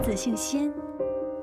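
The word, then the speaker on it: 十四: Just call me Shisi. (14 is pronounced as Shisi in Chinese) How does fate bring people together?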